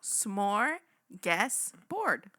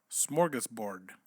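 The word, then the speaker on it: smörgåsbord: it slow smorgus smorgus Bor there you go smorgus board smorgus board there you go there we go see and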